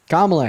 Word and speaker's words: Kamala: see the picture of Kamala Harris's grandmother kamla Harris kamla my bad uh now you you